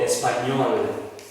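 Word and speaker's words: Espagnol: one, there's another one where you see GN following one another in the middle of a word. They pronounce as nye. For example, when you are talking about Espanol, that GN pronounces that way. Espanol, Allemagne. So in this case, Espanol means Spanish. Allemagne means German. Means Germany, the country Germany. So GN pronounced as nye.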